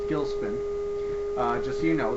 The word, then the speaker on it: Gilcspin: of all it's pronounced gilspin uh just so you know the c is silent and uh the reason